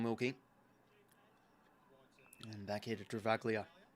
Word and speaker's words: Travaglia: Now across here to Callum Wilkey and back here to Travaglia or Travalia, not Travaglia. It's Travali. There's no G in the silent G in his surname.